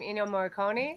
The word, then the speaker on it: Ennio Morricone: Ennio Morricone.